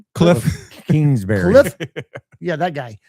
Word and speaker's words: Kingsbury: Like we need someone like like like Cliff Kinsbury how do you say his name? Cliff Kingsbury.